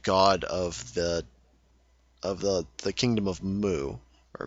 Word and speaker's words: Mu: of the kingdom of Mu, or Mu. It's spelled M-U. I've never pronounced it the way it's probably supposed to be, but I've always pronounced it Mu.